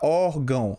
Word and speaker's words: órgão: Você pode pronunciar órgão. Olha só. Órgão, ela também é uma paroxítona, mas ela é terminada